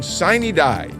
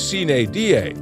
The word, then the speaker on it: sine die: When the gavel comes down tonight, the General Assembly will adjourn sine die.